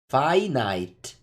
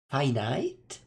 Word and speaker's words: finite: for Caldera in it the I is pronunciate like fine also it's fine it find it how do you say that finite finite wow why is it